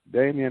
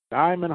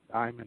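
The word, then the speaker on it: Diamyn: as he will face Damian Hall Malcolm Boyce and Angel feras Diamond Hall how he's pronouncing it d i a m y n Diamond Hall Richardson ready to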